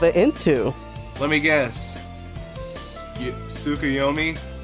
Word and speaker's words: Tsukuyomi: It's pronounced as Skiomi, but yeah, the Picado version of Skiomi. Oh, that's how you pronounce it? Oh. Okay. Yeah, because So it's- because in Japan the U when the U and the S are together, the U is silent.